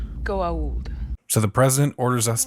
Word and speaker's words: Goa'uld: There should be an apostrophe after the A before the U. It's pronounced Goa'uld.